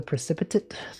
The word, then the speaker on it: precipitate: Either you're part of the solution or you're part of the precipitate. Precipitate. Precipitate. What about Precipitate 7? Precipitate 8. That doesn't make sense. It's not pronounced like that. It's Tate, not 8.